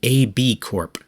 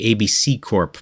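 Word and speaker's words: ABCorp: exists today as the ab Corp which is a little hard to read because they spell it ABC in caps followed by orp in lowercase my brain wants to say ABC Corp but nope anyway today the ab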